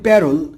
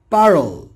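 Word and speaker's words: parole: আমরা বলি প্যারল কিন্তু উচ্চারণ হবে পারল।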